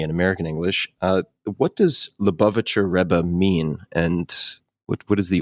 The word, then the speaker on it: Lubavitcher Rebbe: You mentioned that, and I'm going to butcher the pronunciation here, but the Lubavitcher Rebbe if Perfect.